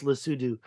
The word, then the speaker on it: Lesotho: I've found all these ancient mining haulage roads This is Lesotho or Lesotho. It's pronounced Lesotho, and that's the border of that country.